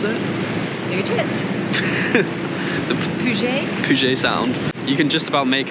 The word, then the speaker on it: Puget Sound: How do you pronounce it? Puget? The Puget? Puget Sound.